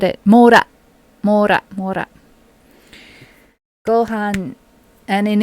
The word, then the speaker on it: mora: I'm aware that N is sometimes a moru of its own. Moru, is that right? I scroll up. Because Claudion said it. Mora.